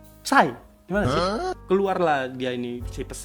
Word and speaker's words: Psy: Kayak mana entah baca PSY, bacanya berarti Psy.